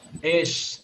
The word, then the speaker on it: eş: Entonces, ¿cómo se dice esposo en turco? ¿Es? Esh. Esposo o Esh. esposa se dice esh.